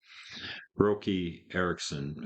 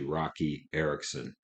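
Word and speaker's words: Roky Erickson: the whole story so rookie Erickson her Rocky Erickson I guess is how he pronounces his name I keep saying rookie because it's spelled without a c but it's actually Rocky Erickson r-o-k-y but it's pronounced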